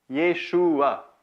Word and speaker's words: Yeshua: Maintenant, ce qu'on a parlé jusqu'à date, c'est le nom propre, Yeshua. Ici, vous avez la prononciation, Yeshua.